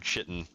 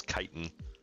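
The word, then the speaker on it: chitin: they would call it they would call this item armored chitten for those of you that are unaware the the pronunciation is kiten armored is just not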